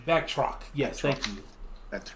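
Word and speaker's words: Batroc: and back back how you say his name back truck yes thank you that's right they came they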